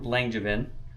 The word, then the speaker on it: Langevin: And it is a gentleman out of New York, Mike Langevin. Did I pronounce that right?